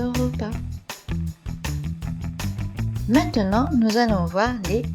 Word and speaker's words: repas: Un excellent repas et ils invitaient, on ne prononce pas le S de repas.